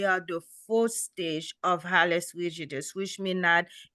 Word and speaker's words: Hallux rigidus: This is Halius rigidus.